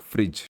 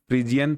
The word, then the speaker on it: Phryges: तो हिंदी में इसको हम फ्रिज बोल सकते हैं।